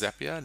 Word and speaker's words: Zapier: It is pronounced Zapier, not Zapier. That's a holiday destination in South Africa, I believe. And the way to remember it is it rhymes with happier.